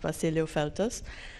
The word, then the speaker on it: Vasiliu-Feltes: but if you really want to know it's pronounced Basilio filters today I I have only one disclaimer I